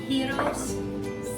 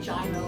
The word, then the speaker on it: gyro: or on locky or on heroes see i pronounced that correctly i didn't say gyro like most of us do but um again it's